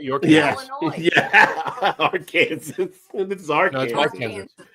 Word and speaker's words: Illinois: silent the S is the S is silent on Illinois but no e no